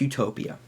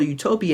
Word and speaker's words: Utopia: uh the good place but also being uh pronounced in a different way it sounds like no place so literally Utopia is